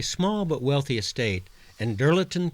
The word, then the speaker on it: Dirleton: In 1155, their heir, John Devoe, acquired a small but wealthy estate, and Dirleton Castle, the Scots pronounce it Diddleton, was built in 1220.